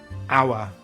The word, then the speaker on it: hour: Sometimes the letter H is silent at the beginning of a word. These are usually French borrowed words like hour and honest.